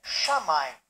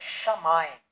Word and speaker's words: shamaim: tem a palavra M só que a palavra é shamai a palavra é shamaim shamaim em hebraico é